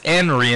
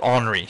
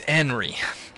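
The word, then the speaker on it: Anri: that you many many other yeah that it's anry and not hry yes I'm aware uh hello dead sulfur and I'm sorry about that but um yeah it's enry but there there is a real name hry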